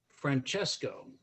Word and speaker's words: Francesco: How did and I will pronounce it Francesco, which now we are able to say in central New Hampshire, which my grandmother and grandfather were not able to say.